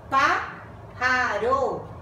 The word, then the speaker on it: pájaro: se les marca tilde en la antepenúltima sílaba. Siempre llevan tilde las palabras esdrújulas. Pájaro.